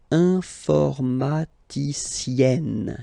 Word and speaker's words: informaticienne: Okay, and you get the sound informaticienne, sienne. Remember, e and then double n, or then it could be double l or double consonant. Here you open your e, so it's e, informaticienne.